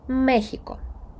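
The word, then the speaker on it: México: йє вулиця Я вже літера яка нагадує нашу х читається як с або просто як х в деяких словах послухайте екзамен або Мехіко с або х у слові Мехіко і в певних наприклад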